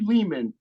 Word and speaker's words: Lehman: yes it's me Ari Leman rhymes with demon the very first Jason